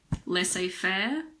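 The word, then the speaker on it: laissez-faire: the letter Zed again there aren't that many words in English with a silent Z the most common ones are probably l a fair and rendevu L a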